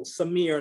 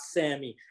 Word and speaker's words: Samir: they can't pronounce though samir not sammy abdullah not abby this ain't